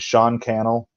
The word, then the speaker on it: Sean Cannell: So Think Media, and Sean Cannell, rhymes with YouTube channel, he says in some of his videos.